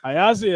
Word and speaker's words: Iazia: Iazia is how you say it.